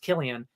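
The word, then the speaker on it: Cillian: and Killian Murphy which I now learned it's pronounced Killian uh Irish pronunciations are crazy uh Ken Murphy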